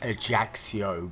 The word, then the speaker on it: Ajaccio: Apparently this is pronounced Ajaccio, but my chances of actually pronouncing it correctly for the rest of this recording is probably pretty slim.